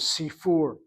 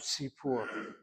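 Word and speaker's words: סיפור: If this were truly a long chirik, then you should read the word as sifur, not sipur.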